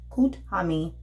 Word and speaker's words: Kuthumi: Kuthumi, pronounced Kuthumi, is an ascended master who appears to be well-dressed Indian, who appears to be a well-dressed Indian man with a golden aura.